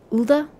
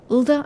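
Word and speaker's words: Ul'dah: as ulda i suppose ulda ulda i'm pretty sure it was the emphasis on the first part the few at the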